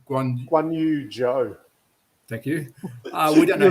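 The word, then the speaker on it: Guanyu Zhou: Guan Yu Zhou.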